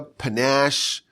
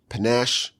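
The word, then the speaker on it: panache: was a clever idea panach kind of rhymes with cash cash is keened panach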